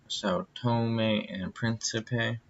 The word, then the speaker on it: São Tomé and Príncipe: in Thomas a sad tone Restless presentation it's pronounced são tomé and príncipe yeah Thomas I saw tone when I say